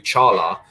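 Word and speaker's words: Çağlar: Like Chala Soyuncu, like, you know, everyone calls him Kags, and that's great, but he pronounces his name Chala, so that's how we do it.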